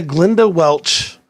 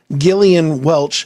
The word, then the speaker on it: Gillian Welch: but this is a Glenda Welch am I saying it right glenia glenia how do you say it Gillian Gillian Welch funny lyrics quiz okay